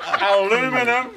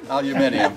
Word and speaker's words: aluminium: You're going to line up the notches on the axe handle with the aluminum. Aluminium.